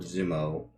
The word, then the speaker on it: Zumo: You see this dwarf of a man named Lord Zumo. It's basically 0 with an extra O at the end of it. And it's pronounced weirdly.